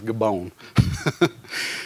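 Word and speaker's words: Gibeon: upon gabayan or gabon i did look up the pronunciation and believe it or not it's gabon and thou moon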